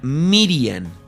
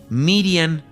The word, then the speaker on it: Miriam: También se le pronuncia Miriam, Miriam o María.